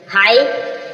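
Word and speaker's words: high: example है बताएंगे जैसे आप देख रहे हो हाई हाई मीस ऊंचा यहां पर जो जीच है लास्ट में जीच है साइलेंट रहेगा साई साई मीस हा भरना आ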